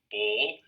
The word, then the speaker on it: Bauul: voice personally pronounced it is like brawl without the r so like ball but I've have no